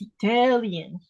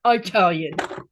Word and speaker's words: Italian: even she says Itali it's Italian not it tellan it's kind of like